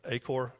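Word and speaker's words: Achor: Acor a c h o r.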